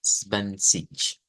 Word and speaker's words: zwanzig: Entonces la T a veces casi no suena o quizás nos podría costar sacar esto. Entonces es casi como solo pronunciar la S, ¿ve? Aunque lleva el van. Entonces sería van, Svans. Y aquí vamos a agregar una I y un sonido como de SH. Svansich. Sieben Svansich. Ahí estaríamos con este.